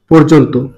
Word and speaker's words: পর্যন্ত: পর্যন্তটা সঠিক উচ্চারণ হচ্ছে কি হবে? পর্যন্ত। কি হবে? ওকার হবে রেপের কারণে। পর রেপটা এখানে র হিসেবে পর, পর জন তো, পর্যন্ত। সঠিক উচ্চারণ হচ্ছে পর্যন্ত।